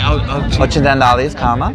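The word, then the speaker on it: Occidentali's Karma: It's funny because Italy 2 years ago, when we had Ocidis Karma, I can't pronounce, how do you say it? Ocidis Karma.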